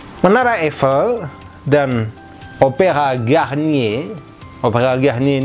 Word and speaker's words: Eiffel: La Tour Eiffel, menara itu La Tour feminin ya. La Tour Eiffel bacanya bukan Eiffel tapi Eiffel, ini berbunyi L ya, sambungannya itu berbunyi L.